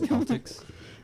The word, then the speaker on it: Celtics: happy with the final pronounce Celtics Celtics yeah that's how it's supposed to be pronounced I don't know man